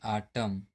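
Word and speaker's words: autumn: किसी वर्ड में एम और एन दोनों एक साथ आते हैं तो एन जो है साइलेंट होता है। जैसे यहां पर देखते हैं एम और एन साथ में आया हुआ है। तो यहां पे जो एन है साइलेंट है जैसे आटम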